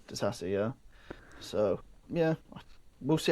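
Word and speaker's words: Disasi: Disassi. Disassi, yeah.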